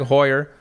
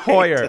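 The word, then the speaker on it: Heuer: to the next level passionate about golf tag Hoyer Cur I thought I said it wrong I said it right tag you said it right Hoyer okay I'm going to start with the passionate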